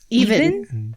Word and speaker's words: EVNNE: How do you pronounce this? The new name? Even. Even. Mm-hmm. Yeah, it's missing a few vowels there. What? Yeah, it's spelled EVNNE.